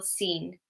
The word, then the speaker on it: scene: So for some words, if the C comes after the S, so SC, then the C is silent. Scissors, muscle, scene. Just remember these ones.